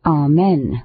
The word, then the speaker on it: amen: The word amen, when standing alone, should be pronounced with 2 accents. The accents in which it usually is pronounced are very inelegant.